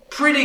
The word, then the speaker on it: pretty: Mas a palavra pretty tem o flap T. Again, vamos pronunciar essa palavra mais uma vez. Pretty. Pretty. E aí, esse esse o vogal de aqui, não é pretty, assim, é I. Pretty. E tem esse mesmo som de vogal na palavra really.